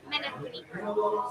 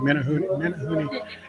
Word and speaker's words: Menehune: Menehune. Menehune. I was wrong. Menehune.